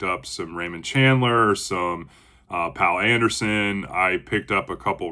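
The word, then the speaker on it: Poul Anderson: I've been calling him Pool Anderson, but I believe it's pronounced Pal Anderson.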